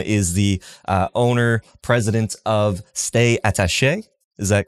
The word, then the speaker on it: Stay Attache: Tim is the owner, president of Stay Attache. Is that correct? How you pronounce it? That's right. Yep. Stay Attache.